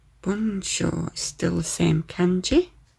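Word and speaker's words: 文章: 文章、 Bunsho is still the same kanji.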